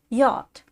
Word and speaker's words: yacht: Yacht. Pronounced yacht.